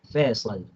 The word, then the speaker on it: Faisal: The real pronunciation is Faisal, but it's Faisal. difficult for you. Faisal, because we have in Arabic we have two kind of s.